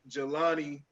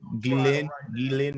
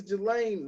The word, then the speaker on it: Ghislaine: A name that I kept seeing on there was Jelani. I was pronouncing it as Ghislaine. Is it Ghislaine, Jelani? Two different pronunciations. The Maxwell chick. Yeah, Ghislaine Maxwell.